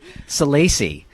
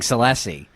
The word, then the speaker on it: Salacy: What is it? Salacy. We've been saying Salacy.